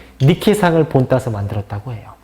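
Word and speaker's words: Νίκη: 나이키가 영어식 표현이고 라틴어식으로 표현한다면 니케라고 해요.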